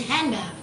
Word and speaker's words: hand: not pronounced for example most American English speakers do not pronounce the d in hand so the D they